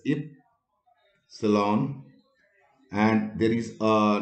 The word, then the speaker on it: epsilon: epsilon let me write this is to be pronounced as if salon and there is a